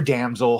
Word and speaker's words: damsel: Drinker review Danel or damsel however damsel damel I've never pronounced the M I've always said it with an N so the danzel in distress movie with